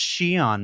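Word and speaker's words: Xi'an: And if your instinct was to stop the YouTube video and go immediately to comments and say, it's pronounced Shion, Mark, get a better hobby.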